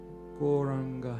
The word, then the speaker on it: Gauranga: Gauranga has 4 syllables: Go, Ra, Anga.